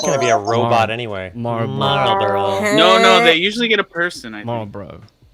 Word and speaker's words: Marlboro: be a robot anyway marlboro marlborough did i just do it there's an l in there there's a small little carl in there people say that this is